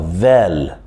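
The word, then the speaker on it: ذ: Vel, c'est la même prononciation de the en anglais. La même prononciation de the en anglais. On sort la langue avec le vel.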